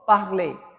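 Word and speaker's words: parler: The first verb I have taken parlay. P A R L E R which means to speak. Okay. Parlay. How do you pronounce this verb? Ple.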